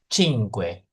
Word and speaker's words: cinque: Cinque. Cing kue. Oh cine. Cing kue. Cing cing kue. Oh G-nya ya. Cing kue. Oh cing kue.